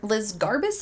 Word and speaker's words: Liz Garbus: Despite all of that, the director, Liz Garbus, I believe is how you pronounce it, she did successfully